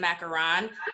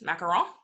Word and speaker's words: macaron: favorite cookie they are instead of macaroon or if you want to be american oh american pronounce it macaron but i studied french macaron you studied french i